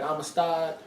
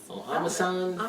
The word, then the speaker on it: Armisen: Fred Armistad. It doesn't Armisen.